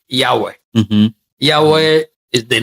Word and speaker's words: Yahweh: Can understand even how to pronounce it. Yeah. So let me use the commonest, like Yahweh.